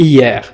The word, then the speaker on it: hier: إيار، لا تنطق أش في إيار، قل إيار.